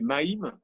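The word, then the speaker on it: mem: lettre et bien c'est même et même ça se prononce aussi maime il ya le mât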